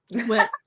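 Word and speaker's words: WIP: Whip. Work in progress. Yeah, work in progress. Yeah, work in progress. Uh, but how do you say it as the word? Whip. Whip. Okay, that's right.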